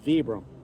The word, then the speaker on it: VBR: wow vbr that's right it's not pronounced Vibram it's vbr but the owner says he doesn't care how you pronounce it as long as you buy it I don't think they